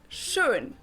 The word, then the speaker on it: schön: I'm not sure that they do it, but it's just pronounced. Or schön, beautiful.